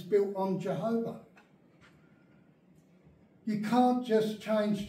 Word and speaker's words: Jehovah: to be that cuz there are three syllables you go the Chev okay the column and the command to your vows they are in between the letters so it's why e h o v a h you've got three syllables you can't say Yahweh because you've just missed out a whole syllable you can't do it it's got to be